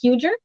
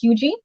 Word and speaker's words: Huger: If you look on a map, it looks like it's spelled Huger or Huger, but it's actually pronounced Huger.